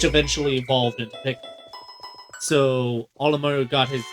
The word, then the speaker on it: Olimar: Olimar is Mario backwards.